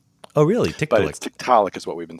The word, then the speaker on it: Tiktaalik: about the discovery of I always say teak to leek but I'm totally that's not the wrong pronunciation right well that's actually right in some quarters but we say Tiktaalik Tiktaalik okay yeah so if you go to the Inuit it's just an Inuit word and then you a